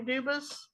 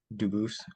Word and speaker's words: Dubis: Dubis. I am Duboose. Um, Dubis is the English pronunciation. Duboose is the original French and I am appearing specially in propria persona not prosay as sujurus.